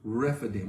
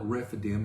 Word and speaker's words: Rephidim: They go to Rephidim. We call it Rephidim. It's Rephidim.